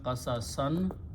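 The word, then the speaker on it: قصصا: So qasasun will become, the word is qasasun, but then as a maf'ul it will become qasasan, and we put an alif, so when you stop you say qasasa.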